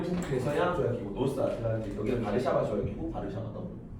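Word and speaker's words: Warszawa: 나토라 하고 여기는 어 바르샤바 조약 기구라 그래 WTO WTO 바르샤바 조약기구 그 러시아에서가 있잖아 B 발음이 난다 b b b 그래서 바르샤바데 바르샤바로 읽어요 바르샤바 조약 W 바르샤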